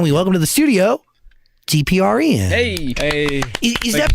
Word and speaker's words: DPR Ian: That is Dan, and we welcome to the studio, DPR Ian. Hey. Is Thank that you so much. pronounced correctly? Yes, that is correct. DPR Ian.